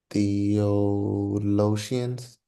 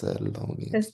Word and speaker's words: Thessalonians: Um, um, Theologians, Theologians, Theologians, Thessal- Theologians, Thessalonians. Thessalonians, Yeah, that's Thessalonians. I know what it is. I T-H-E, just not saying it right.